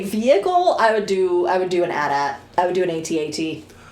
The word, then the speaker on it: AT-AT: It is, always has been, and forever will be AT-AT. If you pronounce it AT-AT, I assume you don't know what acronyms are.